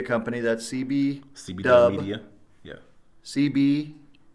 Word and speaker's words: CBW: CBDUB, right? Yep. CBDub Media. All right, I'll Yep. make sure I pronounce it right Oh, so yeah, you everybody got it right.